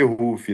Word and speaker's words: Ruffy: No no Brasil a galera pronuncia como se lê, mas como na realidade a pronúncia correta é é Ruf, né?